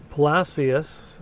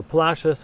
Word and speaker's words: Palacios: Palacius, the way the Spanish would say it, or Palashius, as the locals say it, has a beautiful harbor front here.